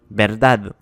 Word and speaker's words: verdad: Verdad finit par un D, donc on a l'accent sur la dernière syllabe. Verdad.